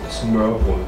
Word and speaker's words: Smørbrød: Smørbrød, as we call it. Okay, let me try to pronounce that. Smørbrød.